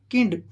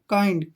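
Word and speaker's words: kind: है इसको पढ़ने वाले किंड किंड नहीं है ठीक है यह बनेगा काइंड क से बना का का का उच्चारण और आई से ई और न से आधी न और ड काइंड क्या पढ़ेंगे इसको काइंड काइंड होता है दयालु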